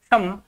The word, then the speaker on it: शम: शम और शम की बात करें, ये देखो स ये हमारा तालवी उच्चारण के अंतर्गत आना है और ये दंत्य के अंतर्गत माना जाएगा। ये स तालवी, तालु शब्द है, तालवी, तालु से इसका उच्चारण माना जाता है और ये हमारा दंत्य माना जाता है, दंत्य। ये आपको ध्यान रखना है।